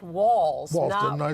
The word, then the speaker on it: Walz: Now, it's my understanding that his name is pronounced Walz. Walz, didn't I say Walz? You sort of said Waltz, I think.